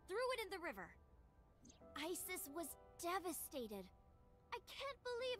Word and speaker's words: Isis: Horace's mom is named Isis, but in ancient Egyptian, it's pronounced closer to Ise or Ase.